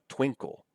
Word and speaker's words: twinkle: Twinkle. The stress is here on the first syllable.